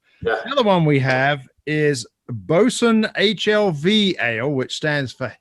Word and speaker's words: boatswain: looking at this and want to say boat swain but it's bosun double ipa and this is coming in at 8.4 another one we have is bosun hlv ale which stands